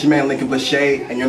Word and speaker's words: Lincoln Blache: Hold on, before we start, is it Lincoln or Lincoln Blache?